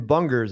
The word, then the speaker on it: Bungerz: got a special guest today we have bungers is that did I pronounce that right nailed it yeah awesome uh